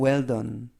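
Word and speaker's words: well-done: 어 배는 느 그리고 매일 끝에 e 는 발음하지 않습니다 그래서 미디엄 웰던 미디엄 웰 든 이라고 발음합니다 뜻은 거의 굽기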